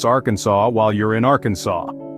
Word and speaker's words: Arkansas: Arkansas while you're in Arkansas the law insists on the French pronunciation which sounds like Arkansas